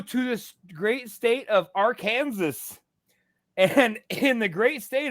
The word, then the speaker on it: Arkansas: code that is strictly enforced that Arkansas is pronounced Arkansas and not Arkansas so there you go I think that's just